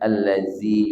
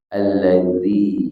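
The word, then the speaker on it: الذي: tidak boleh dibaca alladzi nah bedakan huruf dalal dengan huruf Zai Nah jadi jangan alladzi yuwasbisu tapi alladzi yuwaswiisu sama dengan siratadzi bukanathadzi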